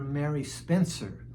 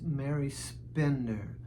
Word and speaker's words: Mary Spender: Um, I I think I called her Mary Spencer and her name is Mary Spender.